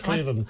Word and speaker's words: Strathaven: He's correcting your Scottish. Straven.